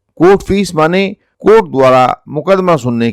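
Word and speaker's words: mesne: अगला शब्द है मीन प्रॉफिट्स, जिसे लिखा तो मैसने प्रॉफिट्स जाता है, लेकिन अंग्रेजी में सही उच्चारण मीन प्रॉफिट्स होता है।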